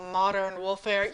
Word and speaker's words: Modern Woolfare: uh race for the wool this is beautiful modern wolfir yes I said it right I didn't say